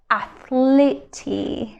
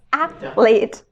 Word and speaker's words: athlete: exactly we don't say athlete right it's athlete so the e is completely silent and it's th right